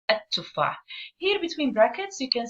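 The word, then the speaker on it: التفاح: But pronunciation-wise, we don't really pronounce the la. We don't hear it. What do we do instead? Instead, we stress on the first letter. So we say at-tufah.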